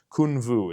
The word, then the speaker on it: Kunwu: Now, I've been calling it Kunwu for the longest time. However, I met Sergio at the booth at Blade Show, and he informed me Kunwu is how it is said.